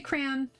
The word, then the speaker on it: crayon: I say crayon. We just say one syllable.